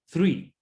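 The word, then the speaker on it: three: El número 3, las THs en inglés, se pronuncian como si nosotros pusiéramos la lengua entre medio de los dientes. 3. Por eso ya no suena tree, porque eso es árbol.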